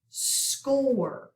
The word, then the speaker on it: score: Score. The C has a K sound, so we're going to do a K back. OR, put an arc, long O, cross out E.